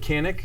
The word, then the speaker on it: Canik: It's made in Turkey, made by how I pronounce it, Canik. It may be pronounced differently over there, but I call it Canik, and they partnered with Century Arms to make it look pretty BA.